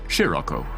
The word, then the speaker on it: Scirocco: The correct pronunciation, of course, is Scirocco.